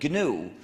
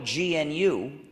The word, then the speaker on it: GNU: according to the dictionary the g is silent and it's pronounced new so anytime you wanted to say new you could spell it gnu and you've got a